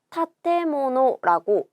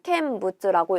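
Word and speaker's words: 建物: 건물을 나타내는 한자이고 요거 타테모노라고 읽게 됩니다. 요 건자, 세울 건자인데요. 동사로 읽으면 타테르라는 훈독을 가지게 돼요. 짓다, 세우다가 되는 거죠. 물건 물자는 아까도 나왔었죠? 모노라고 읽어주면 됩니다. 여러분 이때 타테루의 루를 빼고 타테모노라고 써야 돼요. 마찬가지로 내가 이 세울 건자 캔이라고 읽는 걸 안다 라고 해서 얘를 캔부츠라고 읽지는 않는다는 거죠.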